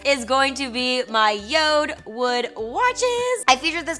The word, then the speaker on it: Jord: the brand is called yod it's spelled like Jord j o r d but it's pronounced yod it is actually the